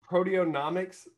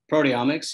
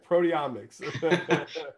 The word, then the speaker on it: proteomics: it down for me proteonomics um what the hell is that proteomics yeah so typically yeah see i didn't even say it right proteomics proteonomics amazing um proteomics is basically